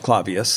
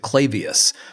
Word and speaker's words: Clavius: Well, Clavius, Christoph Clavius, that's usually how it's said. Although if you watch 2001: A Space Odyssey, I think they pronounce it Clavius.